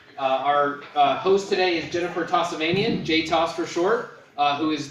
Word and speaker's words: Tossavainen: So my name is Jennifer Tossavainen. I get lots of mispronunciations of it. My apologies. No problem. I get Tossavainian, and sometimes I get, but I'm not sure that that's not on purpose.